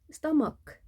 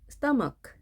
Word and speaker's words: stomach: stomach, stomach. ch 발음은 두 가지가 있습니다. 크 발음, 취 발음 두 가지가 있습니다.